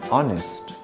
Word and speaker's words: honest: G as in sign H as an honest I as in business